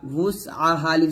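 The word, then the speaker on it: وُسْعَهَا: মতো উচ্চারণ করি তো হামজা করা যাবে না ওয়াও উচ্চারণ করতে হবে ছোট গোল করে ওয়াও সিন পেশ ওয়াস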